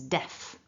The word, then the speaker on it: definitely: definitely four syllables and the strong one is def okay so that's our